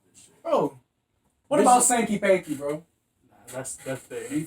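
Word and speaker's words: Sanky Panky: You gotta watch- say it right, because I'm saying it No, wrong. it's Sankey Panky.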